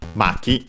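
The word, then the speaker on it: 巻き: sound, but could also be used to make the corresponding noun, which uh is an uh actually has the accent on the ma maki.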